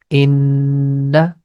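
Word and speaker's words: إنّا: Whenever you see noon has shaddah sign, we are going to stretch the connection. The pronunciation becomes inna.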